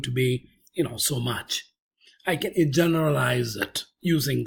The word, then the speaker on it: mu: denote this when we say mu this is pronounced as mu that is population mean when we say X